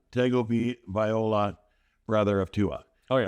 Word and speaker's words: Tagovailoa: Taulia How do you pronounce your last name? Tagovailoa.